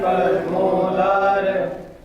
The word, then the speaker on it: परमोदार: अत्र परमोदार परम उदार उदार ये संधि विच्छेद हुआ तो संधि किया तो परमोदार, इसलिए ओ दीर्घ उच्चारण करना परमोदार, उसमें उदार ऊ का भी उच्चारण हो जाता है परमोदार।